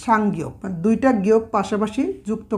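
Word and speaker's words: 쌍기역: এই গিয়ক একটার সাথে যে আরেকটা আমরা পাশাপাশি লিখি, তো দুইটা গিয়ককে আমরা একটা উচ্চারণ করব, একটা উচ্চারণ হবে, এর উচ্চারণটা হচ্ছে সাংগিয়ক।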